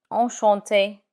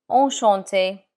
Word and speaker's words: enchanté: But in written communication, you would add an extra E when the speaker is female. But when you pronounce it, it's the same.